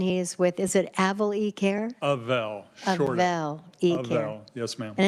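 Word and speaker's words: Avel eCare: is with is it avali care Avail yes ma'am and it's short for what I meant phonetically it's a sure day phonetically it's the short a Avail e-care uh Mark welcome to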